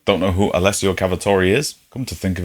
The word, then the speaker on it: Alessio Cavatore: How do you pronounce Alessio Cavatore? Alessio Cavatore.